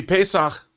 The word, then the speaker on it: Pesach: Happy Pesach. Is that how you say it? Yeah. It sounded like you were speaking Klingon for a second. Pesach.